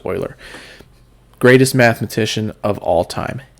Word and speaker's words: Euler: euler because that's how it's pronounced okay it's pronounced euler greatest mathematician of all time hands down i